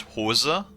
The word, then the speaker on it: Hose: pipe right in in English in German it's pronounced HOSA which means pants right um now there's a